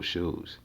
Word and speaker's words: SHU: say shoe program. To those of y'all that don't know, he don't mean actual shoes. Up in prison, the shoe is spelled SHU, meaning special housing unit.